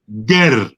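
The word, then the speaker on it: Geh: people in that region was called Ger, G-E-H. That's how it was spelt. That's how more or less they pronounced it.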